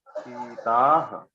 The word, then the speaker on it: सीता: Okay, तो सीता, सीते, सीता, ऐसे होगा सीता. ओके, सीता, बड़ी ई की मात्रा. और मैं बड़ी ई को बड़ी ही प्रोनाउंस करूंगा, छोटी नहीं करूंगा, सीता नहीं बोलूंगा, सीता.